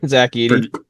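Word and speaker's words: Zach Edey: I'm just saying like Zack Eddie like Eiday. I don't even know how you say his name. Zack Ed.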